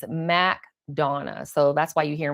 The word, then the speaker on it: McDonough: It's McDonough. So, if you come here, I was saying McDonough, McDonough. They're like, "No, that's not how you pronounce it." And people get really upset, the natives here.